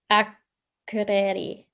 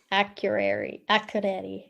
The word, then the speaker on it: Akureyri: So forgive me if I don't do the pronunciation justice, but it's Akureyri. Akureyri.